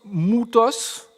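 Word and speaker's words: μῦθος: Ce mot-là, vous le connaissez bien, c'est un mot grec qu'on prononce moutos ou mythe, ou c'est un Y qui nous donne le ou en fait, le son ou, et c'est le nom qui nous a donné mythe en français.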